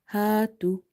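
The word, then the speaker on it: هَاتُوا: If you see there is a fatha before alif, and in this word tu there is a dhamma before wa sakina. So here this alif is madda, this waw is madda. Madda letters are the letters which we read by stretching them up to one alif. So you have to stretch here and here.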